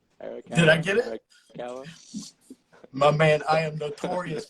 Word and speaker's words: Arakawa: Arakawa.